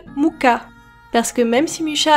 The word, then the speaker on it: Mucha: déjà les commentaires arriver je sais ça ne se prononce pas mcha mais si vous pensez que ça se prononce Moura et bien vous avez aussi tort la prononciation TCK se rapproche plus de muka parce que même si